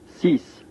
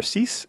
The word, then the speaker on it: six: six, The number six is a pretty simple one. It's like saying the word sí in Spanish and then adding an S sound to the end of the word, so we get sis.